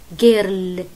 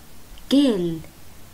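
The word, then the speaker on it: girl: بعدين لونج شوا، بعدين إل، ما في إر طلع، جيل جيل.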